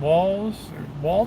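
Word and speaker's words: Walz: Walls, pronounced walls.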